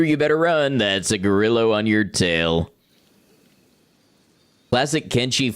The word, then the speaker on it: Gorillo: When I first played the game, I I pronounced it gorillo because I assumed it was like Latin in origin, but no, it's just gorillo. It's just like a gorilla but with an O, and also it's a totally different animal.